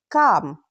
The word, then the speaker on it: calm: Silent L usually comes after A, O, U. When L comes after these vowels, very often we don't pronounce it clearly. Let's look at examples. Half, calm, talk, walk, should, chuck, salmon.